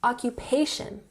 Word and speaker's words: occupation: What's your occupation? We emphasize the third syllable here, occupation.